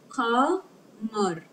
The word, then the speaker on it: قمر: Qamar. When we add alif lam, see the lam has sukun, so it is pronounced because qaf is one of the moon letters that make lam pronounced.